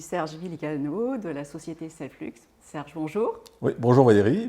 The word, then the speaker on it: Selfflux: en aparté qu'on dit Selflux. Oui, voilà, ouais, parce qu'on parle des flux, les flux de production, donc je ne prononce pas le X à la fin.